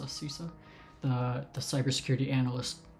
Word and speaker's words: CISA: do you say it sisa not sisa cisa the the cyber security